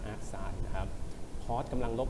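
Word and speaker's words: arcsin: ที่ Sin กำลัง -1 เรา จะ อ่าน ว่า AR Sin นะ ครับ Cos กำล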